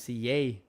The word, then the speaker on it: CJ: border and my name's CA there's no J in Spanish so I get the yay thanks Dad um but